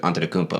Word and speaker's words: Antetokounmpo: I was like, "How do you say Antetokounmpo?" And he's like, "Antetokounmpo."